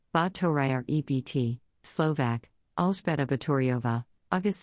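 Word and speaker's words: Báthory: elizabeth bottery dext hungarian the thori air shabbat pronounced battoria ebt slovak alsbada bettoriova august 7 1560 august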